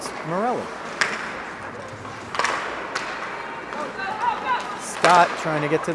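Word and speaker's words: Morley: I did check beforehand we went over the pronunciations and I was told it's Morelli Scot trying to get to that one first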